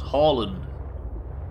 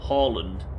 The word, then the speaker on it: Haaland: Haaland. Got to remember. I've been trying to remember to pronounce that surname, Haaland, since '95.